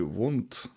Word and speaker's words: want: I want More lons в слові want коли воно в сполученні в реченні зазвичай буква T не читається I One I more lons можна в принципі вимовити I want more lessons а можна і не вимовляти Це залежить від класу